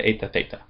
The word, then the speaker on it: theta: A and then the last one theta has a th sound like thing. Theta.